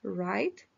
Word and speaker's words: write: code cortar otra vez Quedamos que la W no se pronuncia write escribir Face pegar Listen